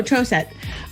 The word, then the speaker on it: Troseth: tracy christopherson and michelle troseph if i say it with the long o troce that's correct and the h is silent oh trosette uh i didn't know